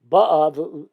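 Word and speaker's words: באה: The hava mila el, the kavar, it's supposed to be ba'a, that it's the mila el, the emphasis on the first syllable is going in the past.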